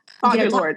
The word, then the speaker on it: Audre Lorde: Did I pronounce her name right? Because Audre Lorde.